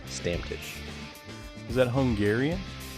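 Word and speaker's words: Stammtisch: me let me uh let me repronounce that stamptish stamfish yes i'm gonna spell it for you guys s-t-a-m-m t-i-s-c-h stamtish is that hungarian it's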